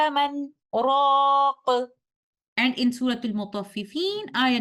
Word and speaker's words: مَنْ رَاقٍ: In Surah Al-Qiyamah, ayah number 27, sakt here is required in our way of Hafs like this. وَقِيلَ مَنْ رَاقٍ.